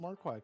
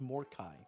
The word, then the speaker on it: Hounds of Morai: You're working on the hounds of Marquai. Congrats. How about I say it properly? Hounds of Morai. There we go.